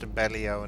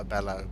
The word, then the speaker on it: Abellio: hundreds tomorrow apparently apparently a bellow is pronounced Abellio not a bellow but it's still a